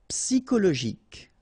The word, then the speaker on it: psychologique: Okay, remember at the end you've got this K. Okay, so ic, and then Y is pronounced like I. Psy. And then it's an exception here because normally we should pronounce it sho, okay, but then we pronounce it ko.